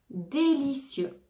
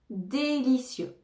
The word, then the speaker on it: délicieux: cULTURE CULTURE délicieux délicieux on ne prononce pas le X à la fin délicieux délicieux docteur docteur docteur docteur